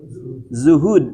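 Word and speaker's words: زهد: Zuhud. Zuhud. Zahada ya. Ya. Ee kalau berjuang jahada kujim ya. Leres nya leresnya. Upami jihad mah kujim. Upami zuhud mah ku zai gitu.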